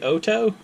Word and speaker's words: OHTO: I mispronounced it before I pronounced it as Oh - it's a hto apparently it's supposed to be Auto anyway these are the